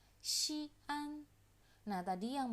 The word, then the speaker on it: 西安: Begitu lebih tepat, jangan Xi'an. Jadi dia bukan digabung ya bacanya antara huruf I dan huruf A. Xi'an.